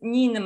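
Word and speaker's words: Ninmah: Assyrian or Sumerian goddess Nimna. Right. Nimna? Nimna. How do you spell that?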